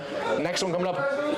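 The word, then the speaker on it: Niamh: Ne.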